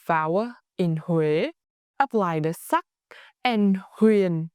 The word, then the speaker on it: Huế: a a a And the tone huen start mid, then fall low and soft.